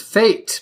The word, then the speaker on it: fete: here's your first word the first word is fate but it's spelled FD te fate and it's a festival